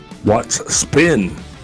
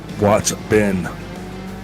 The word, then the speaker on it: Watts Ben: And remember, for all of the fans out there that use the term "Watch spin," that's what. I mean, I think I'm not pronouncing that right. Watts. Yeah, Watts Ben.